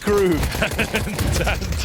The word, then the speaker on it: KRÜ: It's pronounced crew.